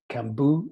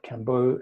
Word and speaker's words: Kambô: If you were to spell it without that, it would be pronounced Kambu, like bamboo, but it's supposed to be spelled Kambo, as in rhyming with elbow, and hence it's got that little triangular accent.